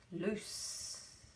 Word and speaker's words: loose: Okay, now we've got words like loose. Rhymes with goose.